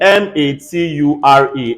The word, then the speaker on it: mature: sounds like that's true which is very clear in m-a-t-u-r-e everybody say mature um in n-a-t-u-r-e everybody